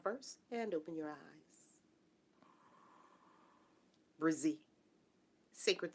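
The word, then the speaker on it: Brzee: It is Brizzy. Oh, Judy. It's spelled B-R-Z-E-E. Brizzy.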